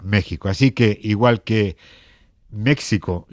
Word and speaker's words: México: en este caso concreto también puede pronunciarse como una J en ciudades como Oaxaca Jalapa Y por supuesto México que se escribe con x pero se pronuncia México Así que igual que